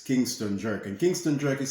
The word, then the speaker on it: Kynston: visit us also over and instagram and it's kingston jerk and kingston drake is spelled k-y-n-s-t-o-n-j-e-r-k so it's kingston drug so stick